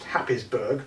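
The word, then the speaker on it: Happisburgh: dunes on there um hayesburg lighthouse which is uh pronounced happysburg but that's an awful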